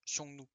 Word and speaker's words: Xiongnu: Et du coup, juste ça se prononce Xiongnu.